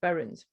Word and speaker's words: buryings: Courtney notes that these processions were also known as singing funerals or buryings, which is pronounced berrins, and they were almost universal.